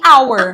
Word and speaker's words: hour: O H não tem som. Ele Então é mudo. a palavra começa com som de vogal.